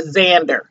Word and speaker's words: Xander: eggs and is okay Xander Simon the X is silent and we throw a Z in there but anywho um but